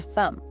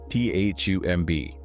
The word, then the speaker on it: thumb: That is your thumb. Thumb. T H U M B. It ends with the letter B. But the B is silent.